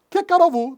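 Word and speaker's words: כי קרוב הוא: Entonces, Kikarovu, díganlo conmigo, Kikarovu. La H2 es hu. En este momento se pronuncia silente, Kikarovu.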